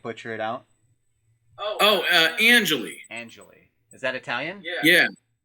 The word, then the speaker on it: Angeli: I don't like butcher it out oh uh Angelie Angelie is that Italian yeah yes it means